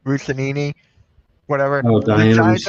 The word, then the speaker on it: Russini: I just saw this from I can't pronounce the name. Russinini, whatever. Oh, The Diana Giants are- Rossini.